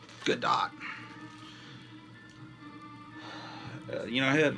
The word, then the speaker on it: Gadot: wonder woman galaga dot i want to call her gal gadot because it looks like bardot but apparently it's pronounced good dot uh you know i